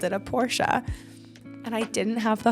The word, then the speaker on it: Porsche: out the other day that Porsche is actually pronounced Porsche and I wanted to do a video on